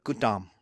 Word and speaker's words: Gautama: So, Buddhism starts with a philosopher prince, Siddhartha Gautama. Even though it's spelled Gautama, I've had Indian students tell me it's Gautama.